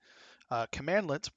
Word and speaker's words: cmdlet: what are commandlets and that's how you pronounce that by the way commandlets pronounce command let's often abbreviated cmdlets are